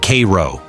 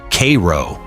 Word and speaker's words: Cairo: Louis, Cairo, Illinois. First, it's pronounced Kay-row, not like Egypt, like Kay-row.